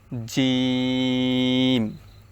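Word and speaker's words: ج: নরম হয়ে যাবে সাম জিম এই জিমের উচ্চারণটা হচ্ছে শক্ত শক্ত করে উচ্চারণ করতে হবে জিহ্বার মধ্যখান উপরের তালুর সঙ্গে লাগিয়ে জিহ্বার মধ্যখান উপরের তালুর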